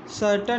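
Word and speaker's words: certain: ठीक, ये सर्टन, ये विलन। इसमें ए आई आ रहा है, लेकिन ए आई का उच्चारण क्या है, छोटा आ के रूप में हो रहा है।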